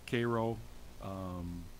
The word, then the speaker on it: Cairo: right before you get to Cairo, or Cairo, depending on how you pronounce it, it's all in Illinois, and there's an exit for it, and it is 5 hours from here.